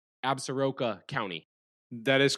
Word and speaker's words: Absaroka: You're listening because we went down to Wyoming, to a county, and make sure I'm pronouncing this correct, Absaroka County.